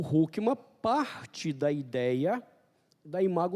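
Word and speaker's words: Hoekema: Anthony hookman escreve o mas ele é um holandês então a gente pronuncia isso aqui como hookman dr hookman eh era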